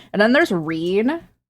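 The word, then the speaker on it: Rean: And then there's Reen, pronounced as you would expect going on.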